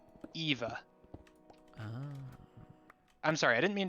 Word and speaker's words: Eva: are eve because hey in japanese you pronounce the e so eva i'm sorry i didn't